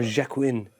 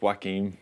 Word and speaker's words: Joaquin: Is it Joaquin Phoenix? Yeah. Or Jacqueline? Oh, it's Joaquin. Joaquin. In Joaquin D4. I think if you say Jordan Larmour, you say Joaquin.